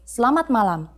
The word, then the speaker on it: selamat malam: During the night, we say selamat malam.